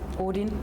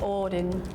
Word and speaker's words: Odin: We would say Odin as oin. Oh, there is a D sound, but we add another O in it to make it easier to pronounce.